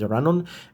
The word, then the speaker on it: Ilanon: They identify themselves as Iranon. It's spelled as Ilanon, so that's 320 people.